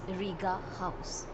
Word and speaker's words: Rigahaus: surname rita gangwani so it's riga house a lot of people ask me why i have named it riga house though it is spelled as h-a-u-s it's because my students